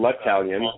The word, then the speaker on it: L'Italien: My last name is L'Italien. It's Italian with an L in front of it, so it's easy to pronounce.